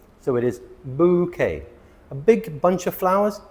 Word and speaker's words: bouquet: Bouet. No, bouquet. The e ending in French words is pronounced a. So, it is bouquet.